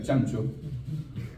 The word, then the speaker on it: Ciancio: vecinas la familia ciancio que realmente en italiano se pronuncia chancho verdad y pangracio uno